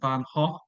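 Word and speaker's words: Van Gogh: the story Knight by vanson Van Ha because everybody pronounces it wrong uh is actually in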